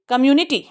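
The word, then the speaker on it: community: इहोज alive in द कम्युनिटी, कम्युनिटी। इस खई को स्प्रेड करेंगे क्योंकि स्टार्टिंग में आ रहा है। इस टी को नहीं करेंगे क्योंकि ये एंड में आ रहा है।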